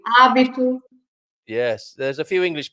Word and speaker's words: hábito: So we don't pronounce the H. We say hábito.